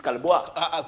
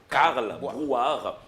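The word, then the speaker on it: Carl Brouard: Tu sais, les gens des fois prononcent mal, les gens disent Calboire, place Calboire. Mais ils oublient que c'est le poète, illustre poète qui s'appelait Karl Boire et qui a vécu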